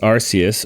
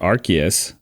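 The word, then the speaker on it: Arceus: Arus or Archus, uh the reason it has two pronunciations is because in the English pronunciation, uh the Pokemon's name Arus is too close to Ars. So ass, you know, so they changed the pronunciation of of that Pokemon in English to Archus to try to try to move it away from that.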